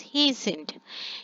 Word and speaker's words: hastened: And here T is silent, so we pronounce it as hastened.